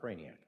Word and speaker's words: Krajanak: Krajanak? How do you say? Am I close? Jay Silent, Craniac.